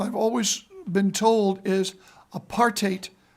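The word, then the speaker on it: apartheid: parate and what I've always been told is apartate rhymes with hate and it's wrong it's physically wrong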